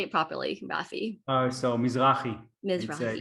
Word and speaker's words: Mizrahi: So Mizrahi. Mizrahi. It's hard, yeah. I'm very bad pronouncing other languages.